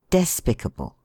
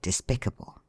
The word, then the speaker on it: despicable: as amicable despicable etc although we have heard people say despicable I never see such a despicable fellow not in all my born days words of this class however the second syllable of which has a vowel before two consonants are often differently accented as in respectable contemptible having in compliance